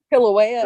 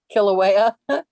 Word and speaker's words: Kilauea: yeah one night last night it was awesome kilauea they got sick so erupting again there's five